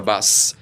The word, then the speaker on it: বাস: হচ্ছে বি ইউ এস তাহলে এই যে শেষে এস এর উচ্চারণটা আসতে হবে কিন্তু তাহলে বাস আর আমরা যখন বাংলায়